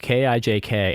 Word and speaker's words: kijk: And so it'll say, but it's, look at this thing or whatever, but it's spelled K-I-J-K and it is pronounced kijk.